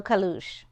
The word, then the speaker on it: Caleuche: from what I understood call it El kalush so it's it's the same spelling but of course different pronunciation um the story that